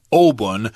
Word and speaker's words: Obon: But of course, in Japanese pronunciation, it's Obon.